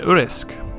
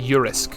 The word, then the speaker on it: urisk: more seclusion uh an urisk use oh hang on they say a euris so is it yeah a euro i've been pronouncing it wrong it should be eures pardon me um a